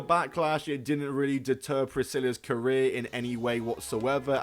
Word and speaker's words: Priscilla: Priscilla, not Priskiller.